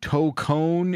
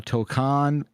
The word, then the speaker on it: Tokon: I know toone is the correct Japanese pronunciation from what I understand, but uh we can also get away with saying uh tokcon.